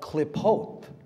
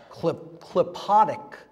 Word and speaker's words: Qlippoth: It's called Klipot, Klipotic Kabbalah. Look up the Klipot. It's spelled Qlippoth.